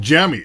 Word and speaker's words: Jamie: It's pronounced jammy.